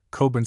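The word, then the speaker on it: Cockburn: On the floor above us are Miss Calhoun Kahun and her cousin Miss Cochran Sinclair Cobin Sinclair.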